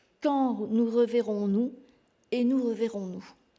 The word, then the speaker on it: quand: Mais on ne prononce pas le U. On peut l'écrire avec un K, par exemple.